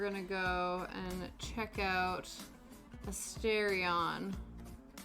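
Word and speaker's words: Astarion: Then we're gonna go and check out Asterion. Yeah, Asterion. Astrion. However you pronounce his fine self. First way was right.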